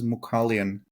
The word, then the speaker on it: Mughalyan: me your last name my last name is pronounced as mukalian m mukalian mukan y great okay